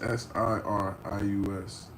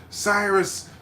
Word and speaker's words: Sirius: mispronounce it and say Cyrus, Cyrus to the stage. And it was like all right, no. And I like the double antandrinness of I'm Sirius like the brightest star in the sky.